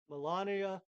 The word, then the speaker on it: Melania: all sniped period Trump didn't pull the rug Melania didn't pull the rug that's correct pron pronunciation U the Insiders the guys that created